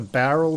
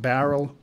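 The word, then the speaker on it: Bowral: want to spell that, Greg, Barrel, because it's not barrel. Yeah, B-O-W-R-A-L. Yeah, B-O-W-R-A-L, Barrel. Yeah, so that's next week.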